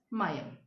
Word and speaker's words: Meeyam: It is, the spelling is Meeyam, but it is pronounced as Mayam.